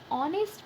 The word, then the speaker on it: honest: N is started with consonant, but the pronunciation of honest is with O, not H.